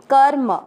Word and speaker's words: कर्म: Second चरण कर्म, वही जैसे पहले चरण में पढ़ा, आधे र को क के साथ और म में अमिक्स कर्म।